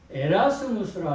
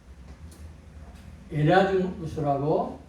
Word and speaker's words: 에라스무스: 두 번째는 우리가 에라스무스라 하는데 네덜란드 인문주의자입니다. 이 레즈모스라고 기억하면 돼요. 토마스 모보다 12년 대선배인데 이 에라즈무스라고 이렇게 일단은 발음을 하겠습니다.